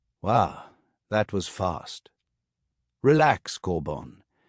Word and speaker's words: Corban: Corban, like that? Yes, Miss Lopez. Some people, when they see my name, think it's pronounced Corbin or Corban.